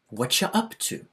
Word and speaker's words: what are you up to: We don't usually say it like that, though. Usually, this is going to sound like whatcha. Whatcha up to?